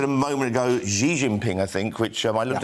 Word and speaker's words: Xi Jinping: said a moment ago Xi Jinping I think which I looked up on Google today to get the right pronunciation and it's actually Xi Jinping did you know that